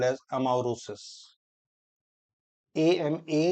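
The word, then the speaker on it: amaurosis: law that then that will be called as amaris am a u r o s i sosis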